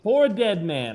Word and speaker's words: PoorDeadMan: Charles, that's not my name. You clown. Say it right. Okay. I'm dead man. Poor dead man.